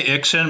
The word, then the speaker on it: Ixan: I say Ixon, but I really don't care. I leave it up to readers to decide how they want to pronounce it.